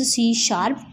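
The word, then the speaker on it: C#: the most not important इ pronounced as सी शार्प जो सी ये है ये एज सी शार प्रोनाउंस किया जाता है ठीक है कैसे सी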